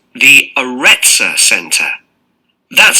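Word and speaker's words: Arretsa: It's called the Retzor Center. That's spelled A-R-R-E-T-S-A.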